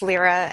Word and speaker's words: Lehrer: there thank you nation it's Lehrer my name is pronounced Lehrer and and and I